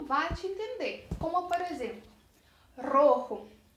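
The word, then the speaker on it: rojo: mesma palavra então fica muito difícil fazer a pronúncia diferenciar aponta que é um relativa não bate entender como por exemplo roho é a cor vermelha então prática bastante porque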